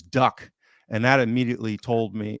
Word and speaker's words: Duk: myself uh you know they kept calling him Duke but obviously the phonetic pronunciation is Duck and that immediately told